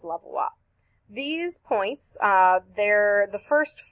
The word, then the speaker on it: Levallois: the technique called the levallois technique it was named in France so it's spelled like this but it's pronounced levallois these points there the